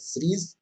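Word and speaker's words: Tso: पैंगोंग त्सो झील, त इसमें साइलेंट होता है, टी ऐसे तसो लिखा जाता है, लेकिन इसको सो पढ़ा जाता है ना, तसो ऐसे लिखा जाता है लेकिन सो पढ़ा जाता है, तो ये ध्यान रखिएगा।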